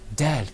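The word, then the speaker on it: د: Dal.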